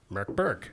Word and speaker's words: Mörk Borg: Berg is Swedish for dark Fort and is pronounced Merk Berg yes spelled Mor Borg we created characters Todd